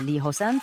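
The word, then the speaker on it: Lee Ho-seon: In advance, I am aware that my name is pronounced the same as subway line 2 in Korean. I am Professor Lee Hosan from Sun University.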